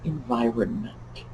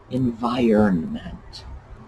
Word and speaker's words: environment: around all the time it's not environment no and i don't care how many newscasters say it that way environment so just like iron which is iron and not iron unless it's irony which is